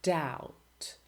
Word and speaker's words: doubt: They are written in a word, but you don't pronounce them. Silent B. Bomb, climb, or debt or doubt, or comb or tomb.